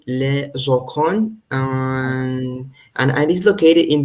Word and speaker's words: Joconde: How do you pronounce in French? Joconde, les Joconde.